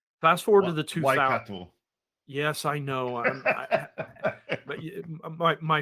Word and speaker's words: Waikato: Waikato. Yes, I know. But my 5-year-old has begun correcting my pronunciations of it, and I try so hard.